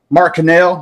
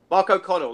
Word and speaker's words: O'Connell: Mark Cannell. I said it right that time? Mark O'Connell, like Chris.